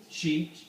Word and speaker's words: Sidhe: Can someone pronounce that? It's Gaelic. She. Do you say she?